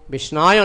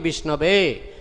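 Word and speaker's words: विष्णवे: Dhira Vadati Vishnabe. Those who are sober, real scholar, pandita, scholar, they say Om Vishnabe Namo. Pronunciation is correct. But Murkha means uneducated, he says Om Vishnayo Namo. Pronunciation is wrong.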